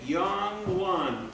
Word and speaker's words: Yang Lan: How do you pronounce the name again? Yang Lan.